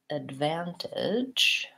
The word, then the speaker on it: advantage: advantage I think and that unstressed first syllable advantage I use more of an F or an F foul advantage then I have the clear vowel a like in black cat van a van tinge and then at the end I think again I have the unstressed vowel advantage let's look at